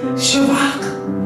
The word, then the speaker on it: Shabach: lexicon Strong's eight seven six twenty three shabbat shabak I put the accent on the second syllable and has a V instead of a